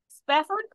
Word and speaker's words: Spafford: So my special guest today is Spafford. Did I pronounce that right?